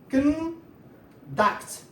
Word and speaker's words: conduct: So please pay attention to the stress here. The stress is here. The first syllable, why this one is a noun. Okay? When it is a verb, the stress is in the second syllable. Conduct. Conduct. But this one is conduct.